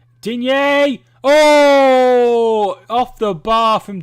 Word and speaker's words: Digne: Looked brilliant from Digne. Or Dean, as it's pronounced.